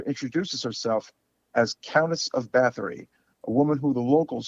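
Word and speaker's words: Báthory: So of course we have Delphine Seyrig as Countess Elizabeth, and the way they pronounce it is Bathory.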